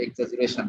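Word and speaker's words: exaggeration: আমরা এটাকে এক্সাজুরেশন বলি, যদিও ইংরেজি উচ্চারণ করলে এক্সাগারেশনের মতো হবে, বাট এটাকে বলে এক্সাজুরেশন, এক্সাজুরেটেড ভিউ।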